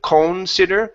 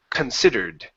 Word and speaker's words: considered: is a Nancy okay if we have that that this situation here like computer or consider we pronounce it C in in both situations so this word instead of conser it's considered considered there you go so MIA considered